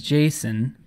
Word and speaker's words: JSON: placeholder by the way I googled how to pronounce this and the Creator says Jason but I kind of like JSON I'm just gonna go with JSON how's that any way